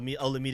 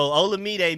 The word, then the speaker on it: Olamide: sure if De'Ami Brown has to worry about Olamide Zaccheaus.